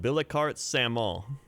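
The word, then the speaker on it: Billecart-Salmon: the wine names uh it's like bilikart samol it's not salmon it's spelled like salmon so i always call it the bilicart salmon it's a good wine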